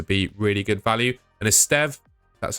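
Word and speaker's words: Estève: and Eststev, that's how you pronounce it, of Burnley.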